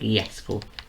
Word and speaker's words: Jesko: So it's not Jesko, it's pronounced Jesko. So it's kind of just replace. It's very simple. Just place you're just getting rid of the J and pronounce it with a Y instead.